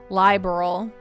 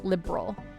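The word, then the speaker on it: Liberl: Corsican, as an aside, I refuse to announce it liberal. Just to avoid any political implications, I pronounce it liberal. Fair. I think that in Cold Steel they might call it liberal. But I'm not saying liberal, like a liberal. I'm saying liberal. Like I'm like not pronouncing I'm not pronouncing the A, I guess. I'm just saying liberal.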